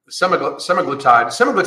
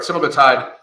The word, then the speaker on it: semaglutide: And the reason for this is that there is a black box warning on Semaglutide, I finally said it right, Semaglutide, there's a black box warning for it possibly causing cancer, thyroid cancer, and thyroid tumors.